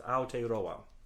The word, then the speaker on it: Aotearoa: Well, with my own American accent and all due respect to Maori people, it's Aotearoa.